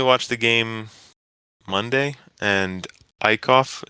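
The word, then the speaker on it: Eickhoff: the game monday and ikoff that's how you say his name right eicoff yeah jared i cough jared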